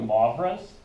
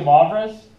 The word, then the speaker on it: Moivre: to show you de Moivre's. And when you pronounce Moivre's, you pronounce that as mauve, which is a color.